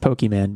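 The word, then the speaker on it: Pokémon: of card games where you're collecting cards it's pronounced pokemon but continue but it's more like you're collecting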